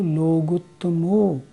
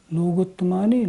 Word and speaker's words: लोगुत्तमो: बोलते हैं ना तो केवली पण्णत्तो धम्मो लोगुत्तमो लोग तुम्हारी लोगुत्तमो ऐसे बोलना होगा आ कि भगवत शरणम